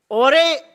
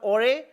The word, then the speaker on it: Jorge: रहे हैं, इसको टीम ओरे, शायद इसे प्रोनाउंस किया जाता है JORGE, I think in the dialect there it's called ओरे।